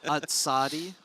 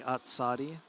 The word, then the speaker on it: Atsadi: By the way, it's it's uh Atsadi. It's definitely Atsadi.